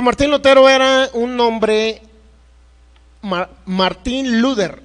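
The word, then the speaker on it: Martin Luther: Pues Martín Lutero era un hombre, Martín Luther, así más o menos era como se pronunciaba.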